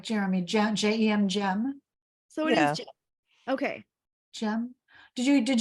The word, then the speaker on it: Jem: I read it yeah Jeff it's not right gem it's like yeah yeah it's j-e-m I listen to the audiobook and they pronounced it I just wanted to make sure yeah because I was like is it not Jim is it something else